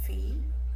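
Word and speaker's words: في: Sí, eso va a ser F-I y nomás vas a poner otra I después de esto. Sería Fi.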